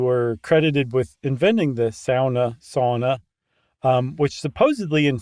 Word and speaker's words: sauna: no we got uh when we did our SAA episode every finished person in the world wrote in and said it's pronounced SAA wow great nicely done yeah I'm